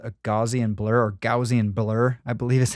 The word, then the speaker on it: Gaussian: I'm going to grab what's called a Gaussian blur or Gaussian blur I believe is how it's actually pronounced.